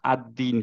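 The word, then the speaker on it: الدِّين: না হচ্ছে না রাইট সো আমরা আদ্দিন পড়বো বিকজ হচ্ছে যে মাঝে একটা আনপ্রোনাউন্স লাম আছে কেন আনপ্রোনাউন্স বিকজ হচ্ছে পরের লেটারটা আমাদের শামসিয়া লেটার আবারও এই জায়গাটায় দেখি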